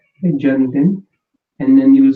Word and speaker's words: जन्मदिन: So it's the with e, okay, janmdin, and then you will say kab hai.